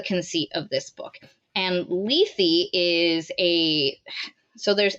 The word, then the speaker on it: Lethe: No, it's Lethe. Yeah, it's Lethe, like the Greek word, which I always thought pronounced Lethe, which I hate.